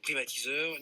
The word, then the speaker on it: Privateaser: cofondateur et président, donc Privatiseur. Nicolas, bonsoir. Bonsoir. Privatiseur, je le prononce bien, Exactement. Tout est dans le titre. Donc on privatise.